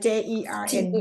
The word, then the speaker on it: Jern: you call her เจิ้น เจิ้น You'll have to spell it for me later, J Perry. like Jern ได้ไหม Jern Oh, Yes.